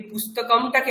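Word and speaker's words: पुस्तकम्: এই পুস্তকমটাকে আমি পুস্তকম কেন বলছি না? তার কারণ হচ্ছে এখানে ম এর পরে একটা এই যে দাড়ি দেওয়া রয়েছে একটা দাগ দেওয়া রয়েছে এটাতে কি হচ্ছে?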